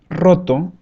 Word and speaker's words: roto: And the stronger one is like rrr, rrr. For example, we have the word roto, roto, that means broken.